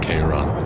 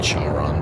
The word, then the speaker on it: Chiron: Oh, I guess you pronounce it Chiron. I said Charon.